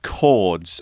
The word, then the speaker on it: chord: interesting chord changes yeah chords uh a quick note on pronunciation this is ch but you still pronounce it chord not chord okay it's kind of a hard k hard c sound now i'm the least